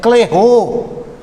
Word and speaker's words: Clairaut: Aí quem resolve essa parada para a gente é um matemático chamado Clairaut, cuja pronúncia é Clairaut.